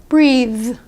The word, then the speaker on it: breathe: this word in practice breathe breathe but what if you didn't hit that th pretty hard and what if he didn't actually pronounce a th very well here's what your listener might hear breeze or this word brief